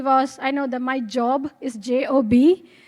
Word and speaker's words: Job: I mean, why would Satan do something to Job if he was, I know that my job is J-O-B, my pronunciation there might be too British, Job, book of Job, J-O-B.